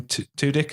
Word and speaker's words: Tudyk: It's Tudyk.